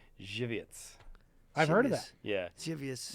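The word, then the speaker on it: Żywiec: a here's another one but I will say it correctly alright it's a Polish lager that's very popular Poland it's very good Jew vietze I've heard it yeah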